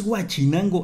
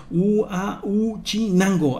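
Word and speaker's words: Huauchinango: por la ciudad que no es guachinango es gu gu chinango ya hasta Es un poco difícil de pronunciar pero ya me corrigieron que no no se llama así chinango es uu chinango Ahí está así es como se debe de decir y pues vámonos encendamos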